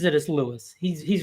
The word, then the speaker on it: Louis: Um, yeah, like he he pronounces it as Lewis. He's he's wrong, but he always pronounces his own name as Lewis.